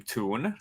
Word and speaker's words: Tul: in english but i i used the name toon like cartoon like t-o-o-n instead because like somebody could pronounce two in and yeah i had that problem confusing so i go as toon mm-hmm tune into interesting